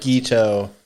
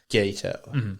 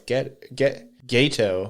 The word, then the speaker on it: Geto: But it's the way It they looks like Gito, but it's pronounced Gato. And that was my problem is because when I first watched this subbed, obviously you see Geto, so you're like, oh, it's Gato, because I didn't think it was ghetto.